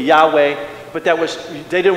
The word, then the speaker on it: Yahweh: Bob hey and and if we were to pronounce it according to Hebrews it would be Yahweh but that was they